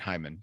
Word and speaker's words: Heyman: not making this up doc dr david heyman but i'm going to pronounce it hyman hyman yes please do dr